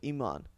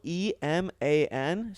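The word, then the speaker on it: Eman: So my first name legally before I switched it to my middle name was Iman, and it's spelled E-M-A-N. So most of the time, you look people like would, a fucking people would just call me E-Man because that's how it's literally spelled.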